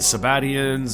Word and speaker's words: Sabbateans: Then, yet again, I found a million different pronunciations. Well, not a million, 3, 4, 5. Sabbateans, Sabbatians. I'm gonna stick with Sabbateans, or whatever comes out of my mouth, no offense.